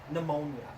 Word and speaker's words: pneumonia: effects of Pannonia pnemonia pneumonia the P is silent P is noise silent